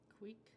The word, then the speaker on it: Kvik: Queek. That's how you pronounce it. Queek. Queeky. Kvik. Queek. Kvik, because it's the V is a. Okay. It's like a weird Norwegian thing.